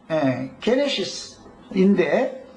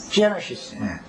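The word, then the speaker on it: Genesis: 창세기의 책령은 영어로 다 하시는 것처럼 게네시스인데, 게네시스 발음 맞죠? 게네시스요? 게네시스요? 게네시스요? 여기 저 미국 사람 한 번 발음 한 번 해요. 제네시스.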